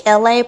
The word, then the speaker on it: Elay: It's me, Elay, pronounced like LA like the city.